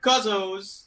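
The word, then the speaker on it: Kuzzo's: If you're new to the term Cuzzo's, that's how you pronounce it.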